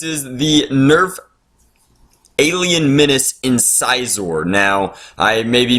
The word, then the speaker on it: Incisor: the Nerf alien menace incisor now I may be mispronouncing that but I think it's supposed to be in czor like the teeth that you have on in your head currently so what does this